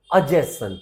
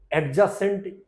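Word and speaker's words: adjacent: एडजेसेंट या कुछ डी का प्रोनाउंसिएशन एकदम भूल जाइए। डी यहां पर जब डीजे साथ आ रहे हैं तो ज्यादातर जगहों पर डी साइलेंट हो जाता है, तो इसको बोल दिया जाएगा अजेसेंट, ओके।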